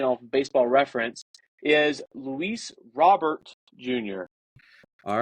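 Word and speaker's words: Luis Robert: and I'm going to get the correct person pronunciation of baseball reference is Luis robbert Jr all right thank youa laanta uh yes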